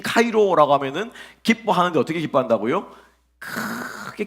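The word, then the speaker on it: χαίρω: 여기서 함께 한다라고 했을 때 이 함께는요, 기뻐한다라고 하는 말은 카이로예요. 카이로. 헬라어로 카이로인데 이집트에 있는 카이로 말고 카이로입니다.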